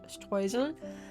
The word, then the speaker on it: Streusel: To be honest, it's kind of weird for me to pronounce it this way. I learned German, so a more natural way for me to say this word would be Streusel, but let's say Streusel.